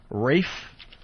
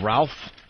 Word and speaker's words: Ralph: I think Rafe, even though his name is spelled Ralph. Yeah, Ralph Fiennes. It's Rafe.